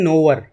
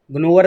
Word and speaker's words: gnawer: सबसे पहले तो इसे बोलना ही सीख लें, इसे बोलते हैं नोवर, ग्नोवर नहीं बोलना, जी साइलेंट रहता था, नोवर।